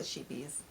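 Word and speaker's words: Scheepjes: would you pronounce that I call it sheepies sheepies sheepies yeah silent J it might just be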